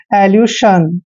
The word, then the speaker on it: elusion: हमने यू पढ़ना है, और SION को उच्चारण जन भी करते हैं और शन भी करते हैं। तो यहाँ पे हम करेंगे एल्यूशन।